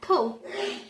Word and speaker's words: though: And though. In this words, we don't pronounce G and H.